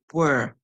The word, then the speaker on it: were: So guys, remember here, the ER is making the sound saying and the E at the end is silent.